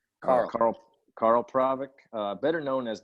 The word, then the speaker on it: Karel: How do you pronounce it? Correct. Karel.